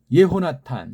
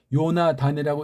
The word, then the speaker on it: 예호나탄: 네페슈, 넋이, 예호나탄, 이것도 예호나탄, 이걸 요나단이라고 일본서를 했어요. 왜? 탄자가 안 돼. 단이 뭐냐 말이에요. 요는 뭐예요? 예호. 여기 해 발음을 왜 뺐습니까? 음역이 엉터리예요 이게.